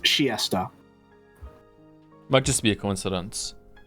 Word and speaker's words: Chiester: But I think that makes too much sense for them being to the Chiester to Winchester, and also apparently it's pronounced Chiesta.